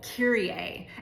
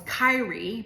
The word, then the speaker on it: Kyrie: And it's a song called Kiraier. And I always thought the the name of the song was Kyrie because it's spelled K Y R I E.